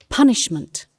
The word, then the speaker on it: punishment: Look at the stress in the first syllable. Punishment.